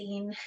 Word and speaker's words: zine: So first thing is, what is a zine? And we need to clear up how it's pronounced. It is zine, kind of like magazine minus the maga.